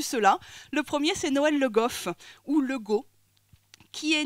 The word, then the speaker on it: Legault: Le WF, c'est une graphie, mais c'est pour montrer une nasalisation, c'était pas prononcé Le Goff, donc finalement Le Go, c'est plus proche de la prononciation parlée de ce patronyme au XVIIe siècle.